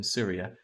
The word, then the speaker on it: Tsiria: I keep saying it as Tsiria. I'm pretty sure that the T is silent.